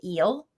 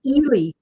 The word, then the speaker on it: Ehle: And because in my brain, I had always pronounced it eel. It's actually Ehle.